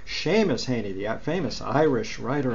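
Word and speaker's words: Seamus Heaney: but same as Haney's am I pronounce his name correctly seen Shane Sheamus is an SH Shamus handy that famous Irish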